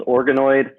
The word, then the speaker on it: ORGANOID: So it's ORGANOID, like organoid.